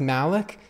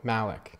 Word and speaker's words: Malik: It's pronounced Malik, except it's like Mal hardcore Malik.